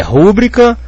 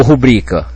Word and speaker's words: rubrica: interessante pra gente analisar como é que eu vou saber por exemplo aqui se é rúbrica ou rubrica se fosse rúbrica ela seria pró paroxitona concorda rubrica teria que ter acento mas a gente vê escrito por aí sem acento nos textos de quem sabe escrever então se as pessoas